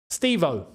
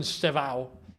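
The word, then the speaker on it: Estêvão: Um Reese James, Wesley Fana, Josh Hache Pong, and Steo.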